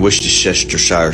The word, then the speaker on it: Worcestershire: And Worcestershire sauce. Worcestershire. Would be the right way to pronounce this word.